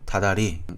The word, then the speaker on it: 다달이: 자, 우리 단어 중에 달과 달이 합쳐져서 발음이 어떻게 될까요? 달달이라고 하지 않고 다달이 이렇게 발음을 합니다.